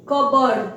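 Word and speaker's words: cupboard: पे जो layer D कबड्डी कप बोर्ड नहीं पड़ते हैं इसे इसे पढ़ते हैं कप कबड्डी कबड्डी का अर्थ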